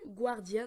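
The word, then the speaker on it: Guardian: avec de l'eau et un Gard guardien donc voilà prononcé à l'anglaise donc ce guardien on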